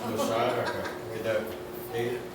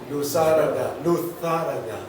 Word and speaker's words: Luzaraga: And it has to be pronounced Lusaraga. Tito Raul even puts an accent on his name. Although Asel, Lusaraga. the guy in the Basque country told us that Lutharaga is the Spanish pronunciation.